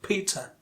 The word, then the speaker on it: Peter: But when it comes to Peter, the first syllable is the stressed syllable.